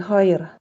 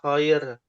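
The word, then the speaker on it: خير: Buruk lawan kir. Lawannya kir. Betul ya. Lawannya khair ya.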